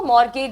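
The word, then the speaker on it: mortgage: उसको मॉरगेज बोलते हैं। ठीक है? टी साइलेंट है।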